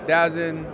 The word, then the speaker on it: DAZN: of the zone and whether you pronounce it dazen da the zone is the official way but you know as